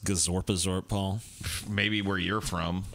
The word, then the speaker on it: Gazorpazorp: yeah dude good old Gaza pass orb dude it's pronounced gazorpazorp all maybe where you're